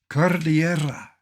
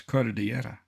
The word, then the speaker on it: Cordillera: Cordillera is Spanish, and beautifully so. Cordillera. Having taken a course in Spanish, I know how to pronounce Cordillera, and I know what it means, a mountainous region.